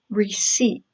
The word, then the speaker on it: receipt: another look at receipt the P is silent pronunciation is receipt it is a thing